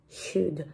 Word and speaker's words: should: Primero está la SH, que suena sh, no ch, suena sh, listo. Empezamos con sh. Luego está la OU, que no se dice O, es un diptongo. Entonces, cuando hay esas dos vocales, la OU, se unen en un solo sonido, que es más U que O.